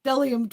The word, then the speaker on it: Bdellium: The B is silent. It's Bdellium Tools.